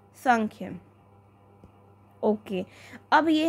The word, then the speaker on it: सांख्य: चीजों को मानते थे संख्य संख्य इसकी स्पेलिंग तो है यह लेकिन जो इसकी प्रोनंसिएशन है व है सांख्य सांख्य क्या मैंने आपको बताया